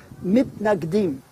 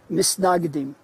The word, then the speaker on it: mitnagdim: In contrast, the other grouping, which has different names, but the one I'll use is the mitnagdim, those who were against, or in the Yiddish pronunciation, misnagdim.